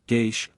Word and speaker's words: geis: Dineen's Irish Dictionary explains the word geiss, pronounced geish, plural, geisha, as meaning a bond,